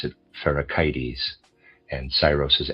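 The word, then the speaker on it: Pherecydes: And I would like to say I'm going to pronounce a word ficides. That's how I was pronouncing it before. I've decided I want to pronounce it fericites.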